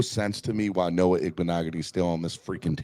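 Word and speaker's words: Igbinoghene: Noah Igbenogany.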